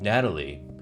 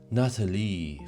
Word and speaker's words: Natalie: When Trump calls for her, he doesn't say Natalie. He says Natalie, French pronunciation.